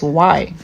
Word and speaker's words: J: But in German, A, B, C, D, E, F, G, H, I, J, The J is actually pronounced Y. Yacht. For example, Josh, Yosh.